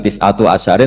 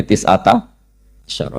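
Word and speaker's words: تِسْعَةَ عَشَرَ: Tetap bacanya bukan tis'atu asyarin tapi tis'ata asyara.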